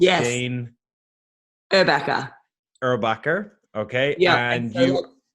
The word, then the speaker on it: Erbacher: uh i i don't want to get your name wrong so it's yeah rebecca erubaka okay yeah and you it's german we're not